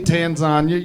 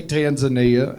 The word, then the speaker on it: Tanzania: That's how they Oh, y'all are like, "Oh, the fat man thinks it rhymes with lasagna." No, they say Tanzania. You say Tanzania.